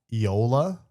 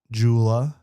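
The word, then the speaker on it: JOOLA: So you can also just so everyone at home knows it is pronounced Yola like Yolo but Yolola. It is not Jula.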